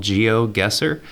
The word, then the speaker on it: GeoGuessr: It's called GeoGuessr. Guesser is spelled Guessr.